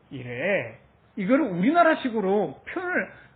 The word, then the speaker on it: 이레: 그래서 이스라엘식으로 말을 하시면 이레 이렇게 발음합니다. 이레. 이거를 우리나라식으로 표현을 할 수가 없잖아요. 왜냐하면 이거 우리나라 이런 거는 발음을 못 하잖아요. 우리는 반드시 르 해서 으 발음을 붙여야 되잖아요. 으를 빼야 돼요.